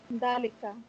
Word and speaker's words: ذلك: No, dalika is pronounced dalika, but it is written without the alif.